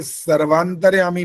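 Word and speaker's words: सर्वान्तर्यामी: सर्वांतर्यामी बोलना था। सर्वांतर्यामी नहीं है। ये सर्वांतर्यामी व में आ की मात्रा भी बोलनी होती है। तब वो शुद्ध हो जाता है।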